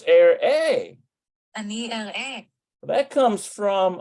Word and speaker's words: אראה: So ani area. Let's see, ani area. Ani area. Otach. Okay. We need אני אראה. oh, it's air A.